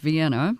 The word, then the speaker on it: Vienna: Well, we're located in Vienna, Ohio, which is spelled like Vienna, but it's pronounced Vienna for whatever reason.